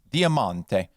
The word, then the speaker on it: diamante: Italian word for diamond in Italian it's pronounced Diamante the accent's over the mon instead of the Tay um and both the